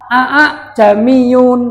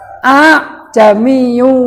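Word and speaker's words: أأعجمي: Ingat-ingat lafadznya a'a jamiyun wa arobi. Kalau bacanya a'a, hamzah pertama jelas, hamzah kedua jelas. Tapi kalau baca yang benar itu diseret. A jami'u wa arobi.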